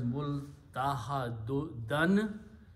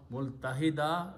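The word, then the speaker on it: مُلْتَحَدًا: But so final word is multahadan. But when you stop at the ayat, you say multahada. Important thing is that we have to pronounce correctly. If we pronounce multahida, that will completely change the meaning.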